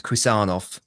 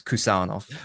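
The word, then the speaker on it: Khusanov: told by many obcs that is it's a hard K so it's kusov hold on many hold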